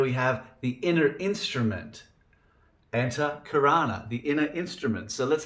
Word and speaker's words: Antahkarana: A-N-T-A-H, Anta, means inner. A-N-T-A-H, Anta, it means inner. And then Karana, K-A-R-A-N-A, it means instrument. So there we have the inner instrument. Antahkarana, the inner instrument.